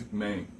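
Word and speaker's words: Ip Man: ipman uma coisa e não é ipman ele não é o Superman não é inglês certo é IP ipman e até minha pronúncia não é muito boa em chinês eu sou eu sou péssimo em pronúncia certo mas não é Main é Man eu vejo muita gente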